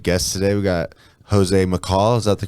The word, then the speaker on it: Macall: got some good guests today we got jose mccall is that the correct way to say your